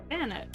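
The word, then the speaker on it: Banette: It's because um they're the marionette Pokemon. So, it probably rhymes with Marionette cuz a lot of Pokemon names are fun names. Marionette Banet Banet.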